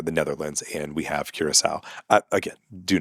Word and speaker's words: Curaçao: So, a lot of people have issues with my pronunciation of Corsu and saying it's it should be something else. And that's why we say Curaçao. That's why we have a version that we say that we're comfortable with and you guys recognize.